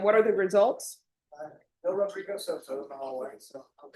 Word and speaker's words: Rodrigo: And roll your R. Court is calling 2026 CR 007634, State versus Rodrigo Soto for the state.